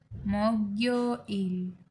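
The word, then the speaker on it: 목요일: Okay, तो Monday को कहेंगे वोरियो इल, प्रोनाउंस लाइक वोरियो इल। ट्यूसडे वायो इल, वायो इल। वेनसडे सुयो इल, सुयो इल। थर्सडे मोग्यो इल, मोग्यो इल।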